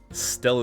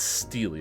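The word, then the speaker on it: stele: stupid don't you agree Stella is pronounced Steely apparently huh uh uh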